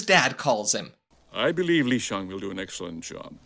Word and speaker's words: Shang: So I'll be pronouncing it Li Shang, just like the real-life Chinese general that lived in 200 BC.